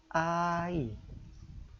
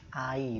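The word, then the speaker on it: 아이: Anak kecil bahasa Koreanya ai. Ya. Hai. Anak-anak. Ya, anak-anak ya, masih anak kecil ya. Ini ai bahasa Koreanya. Nah, ini konsonan iyangnya tidak terbaca ya. Yang bunyi hanya vokalnya. A dan I.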